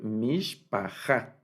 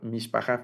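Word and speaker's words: משפחה: Eso lo estoy diciendo cosas ahí sin sentido, pero mishpaha es la palabra completa, no se declina. Entonces tenemos el acento va al final, y aquí está partida la palabra en las 3 sílabas que contiene.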